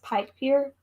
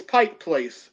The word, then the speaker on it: Pike Place: I'm going to mispronounce it because I always add an S. Pike Pier? Pike Market. Pike Place Market? Is that what's the market called? Seattle. It's Pike Place.